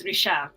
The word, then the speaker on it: Richard: yeah he's just like so in French it's Risha sure um I love